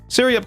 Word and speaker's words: Syreyup: But to make it known, if you want to say my name technically correctly, it's Syreyup. Syreyup. If you use iOS and activate Siri, you said it right.